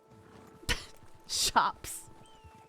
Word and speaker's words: chaps: you sorry your shirts shops that's the correct way to say it I'm not I'm not gonna see that they're named after the bush that they were designed to stop shop here us do